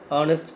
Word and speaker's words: honest: H is silent. So honest, vowel sound.